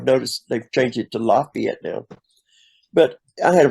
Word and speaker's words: Lafayette: laf not a capital is f so it's pronounced Lafayette and I've been corrected with that all my life well there's a the street in downtown Nashville is also called Lafayette yeah yeah everybody wants to say Lafayette yeah and uh it wasn't Lafayette Georgia and